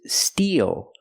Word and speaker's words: steel: and the sparkling water let's compare these three words the first word is steel we use the long e plus the dark L Steel e like green beans